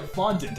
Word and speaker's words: fondant: Yeah, fondant.